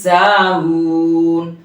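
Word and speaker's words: ساهون: আল্লাযীনা হুম আন সালাতিহিম সাহুন। লক্ষ্য করেছেন? আন সলা আমি চাপের উপর বলেছি, সাহুনটা সিনের উচ্চারণটা ভাসি বলেছি। সিনের উচ্চারণ আর সদের উচ্চারণ অনেকে পার্থক্য করতে পারে না।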